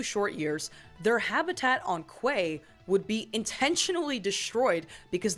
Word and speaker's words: QA: And I know it's spelled QA, but apparently the accepted pronunciation is Quay.